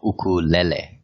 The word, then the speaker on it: ukulele: as a novelty, and I said the word wrong throughout the first time we did an interview with you, but it's actually pronounced ukulele, right? Yeah, well, it's actually ukulele.